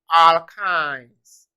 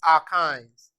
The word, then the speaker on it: alkynes: which is our kinds it is pronounced alkines our kinds it is pronounced alkines okay having seen that